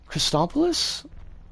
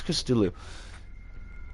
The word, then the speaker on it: Christodoulou: Christopoulos? No, fuck, that's not how you say his name. 2 seconds. 2 seconds, Turkish. Risk of Rain Toes. OST. Christodoulou. Wait, no, wait, we did this before. We did this before. We got the pronunciation for this. Christodoulou? Shit. Shit, piss, and corruption. No, Ludo looked this up for us. Christodoulou. It's Christodoulou. Anyways, that's the...